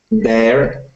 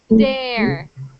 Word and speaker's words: there: There. There. There. There. Say it one more time. There. So, you are making a D sound.